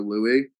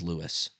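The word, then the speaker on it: Louis: Violet or Louie? First off, the boy's name is Lewis. Lewis. Whatever. It's de I mean it's a different name. It's spelled the same.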